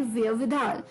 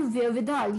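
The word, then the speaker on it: wherewithal: ही ये वर्ड है वेयर with all जिसके स्पेलिंग है डब्लू एच ई आर ई डब्लू आई टी एच ए एल वेयर विदल डब्लू एच ई आर ई डब्ल्यू आई टी एच ए एल व विधाल यानी कि the necessary memes specially financial memes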